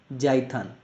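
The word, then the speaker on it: Jython: सकते हैं हम लोग jaithhan ठीक है पी यहां पे क्या है साइलेंट है ठीक तो के पाइथन और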